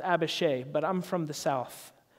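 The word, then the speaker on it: Abishai: a new sword thought to kill David but a Bechet eye now I know that that's actually pronounced a Bechet but I'm from the south and I think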